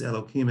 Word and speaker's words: Elohim: Elohim, for example, Zarka is another trop that behaves that way, but since Elohim is accented on the last syllable, we only have one symbol.